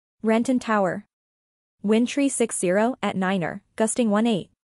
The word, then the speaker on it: niner: Cessna 8509-0 the number three is pronounced tree and the number five is pronounced Fife the number nine is pronounced Niner this has been adopted